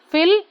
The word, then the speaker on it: fill: See, fill, feel. We take less time here and we take more time here.